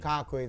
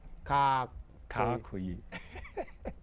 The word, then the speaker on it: Kakoyi: Kakoyi, like Kakudi, that pronunciation. Kakoyi.